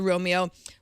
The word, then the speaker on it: Roamio: iio just so you know although it is pronounced Romeo which is somewhat of an unfortunate name but